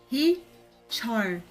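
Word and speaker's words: Heechul: He-chol. He-chol. Muito importante, esse I, quando ele tá com o H, que é a bolinha com o chapéuzinho, a pronúncia dele vai ser como se fosse I. Porque, por exemplo, para poder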